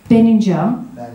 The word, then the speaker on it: Benninger: And that everywhere you go, and the people you meet, I met this wonderful man, Trevor Benninger. He said it rhymes with energy, but I just call him Trevor, you see.